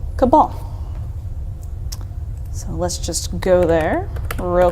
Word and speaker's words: Cabal: I'm just kidding so people have come to blows over the question of pronunciation but most of the surveyors are settling on the pronunciation of Cabal now let's get to